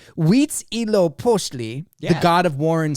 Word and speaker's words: Huitzilopochtli: So it's Huitzilopochtli, the god of war and sun, and Tlaloc, the rain god.